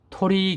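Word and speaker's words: 鳥: 1,000개 이상씩 있는 데가 토리 기적입니다 여기 보시면은 토이라이더 그러죠 고도리 할 때 그 도리 토리 도리는 이제 뒤쪽에 와서 도리라 그런 거고이 앞쪽으로 오다 보니까 토라는 발음으로 하는 거예요 토리 귀족이라는 것은 우리나라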